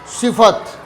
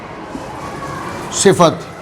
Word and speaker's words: صفت: صفت ہے اور نہ یہ صفت ہے، یعنی صاد کے نیچے زیر اور فا کو ساکن کرنا یہ بھی غلط، صاد کے نیچے زیر اور فا کو مشدد کرنا یہ بھی غلط۔ تو درست تلفظ کیا ہے اس کا؟ صفت، یعنی صاد کے نیچے زیر اور فا کے اوپر زبر، اس کا یہ درست تلفظ ہے، صفت۔ مشقت عام لفظ ہے۔